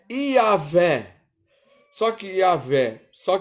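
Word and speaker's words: Yahweh: pronunciado introdução porque ele não tem vocal me desculpe gente mas é demais é e h w h e y não é yhwh dos exércitos ou seja que a gente de certa maneira ele pronuncia como se fosse é o mais próximo de dizer se pronunciar é yaveh só que a ver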